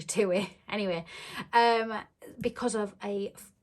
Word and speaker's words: TUI: how people pronounce it i've always said tui but i think it's actually two-way anyway um because of